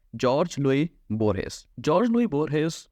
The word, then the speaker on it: Jorge Luis Borges: इसकी प्रोनाउंसिएशन हम काफ़ी गलत की जाती है, इसकी एग्जैक्ट प्रोनाउंसिएशन है जॉर्ज लुई बोरहेस।